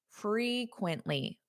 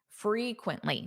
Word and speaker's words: frequently: Frequently. Quintly. Quintly. Frequently. Notice that syllable stress. It sounds louder on which syllable? Frequently. Da da da. Frequently. The first syllable.